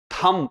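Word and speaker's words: thumb: थंब इसको थंब पढ़ना है। बी तक जाना ही नहीं है। थंब बी साइलेंट रखना है।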